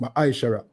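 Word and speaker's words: מעשר: and malachi 3 verse 8 to 10 means 10 in the ebu and is pronounced ma shara 10 of any every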